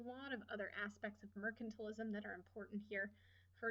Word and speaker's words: mercantilism: l i s m m e r c a n t i l i s m it is not pronounced Merchant alism this is not about Merchants this is mercantilism mercantilism is the idea